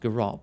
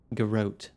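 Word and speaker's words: Garrote: to the steel garot I always thought it pronounced Gat but everyone here is saying garot a worthy soul will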